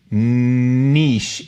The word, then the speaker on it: niche: rhymes with shees and Niche rhymes with pitch Niche is is the